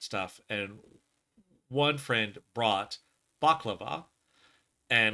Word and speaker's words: baklava: So I don't typically like balaclava because I don't like pistachios. Okay, we should probably say it correctly. The baklava, Baklava.